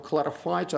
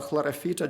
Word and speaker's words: Chlorophyta: That's a green algae, filamentous green algae from the phylum Chlorophyta or Chlorophyta, depending on your pronunciation of Latin.